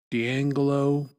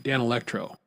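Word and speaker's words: Danelectro: One was uh I won't say the name right. D'Angelo Dan No, Dan Electro. There we go. Now I'm saying it right. Dan Electro.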